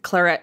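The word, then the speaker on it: Clairette: be kind of confusing because there's chlorette c-l-a-r-e-t which is that style of wine but this is Clara a grape c-l-a-i-r-e-t-t-e and they have like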